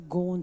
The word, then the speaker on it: gorn: You had the cry of Kaz Cooke's wonderful phrase, remember "Gorn Too Far"? It's spelled G-O-R-N, gorn too far.